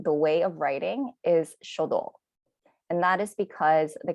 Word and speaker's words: 書道: the top calligraphy it's written here and it's pronounced shodo flower arrangement is kado tea ceremony is sado